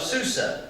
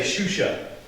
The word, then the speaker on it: Susa: And if you're using an old translation, some of the older ones will say Shusha. And it's just a pronunciation thing that they were throwing in there. Shusha, Susa, it's the same place.